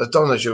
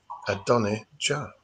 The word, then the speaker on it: Adonijah: Yeah, I remember his name, how to say it and everything, because it says that Adonijah was a very, very good looking, as people might say, like an Adonis. Adonijah.